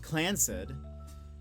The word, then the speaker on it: Clanced: The Clanced, pronounced Clancid, Trust is a highly unusual